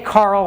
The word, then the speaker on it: Karel: named after Carol and some people say Carl which is kind of actually closer do I believe if